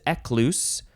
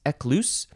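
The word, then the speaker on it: Ecclus: of these ecclesi words and this one is ekluse I don't know how you would say it because it's an abbreviation it is spelled capital e c c l u s ekluse and it's an abbreviation for ecclesiasticus which is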